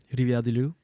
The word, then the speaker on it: Rivière-du-Loup: I feel like it's weird because you don't roll your R's in English. So it's like you're going through do talking da da da da and Rivière-du-Loup.